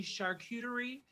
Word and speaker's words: charcuterie: Or maybe you're enjoying the non-alcoholic alternative this year, which was a lovely charcuterie.